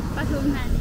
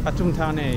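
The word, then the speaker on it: Pathum Thani: Pattom Thani. Pattom Thani, yeah, I know. It does get mispronounced, a bit like Pattaya.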